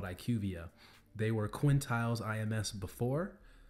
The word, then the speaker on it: IQVIA: And IQVIA, that's how you pronounce it, I believe. Please correct me if I'm wrong, but I think that's the correct way to pronounce it from what I've heard from people that have worked there.